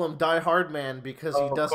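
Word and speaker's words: Die-Hardman: You have to remember, you don't pronounce it as like a hard man. You pronounce it as Hardman.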